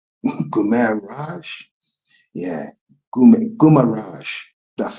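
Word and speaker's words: Guimarães: Yeah Gumaraj that's how you say it. That's how you pronounce it. Sorry my bad to all the Brazilians out there. Gumarrage um scored in the 58th minute and then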